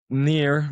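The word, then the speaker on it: Nir: Well, Near N near is my friend.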